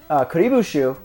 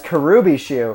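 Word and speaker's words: Kuribo's Shoe: sounds so simple, but they misspelled or like mispronounced Kuribu Shoe as Karubi Shoe in the cartoon.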